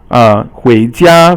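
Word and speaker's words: 回家: 回家, for example, 回 is second tone, and 家 is first tone, and that means to go back home.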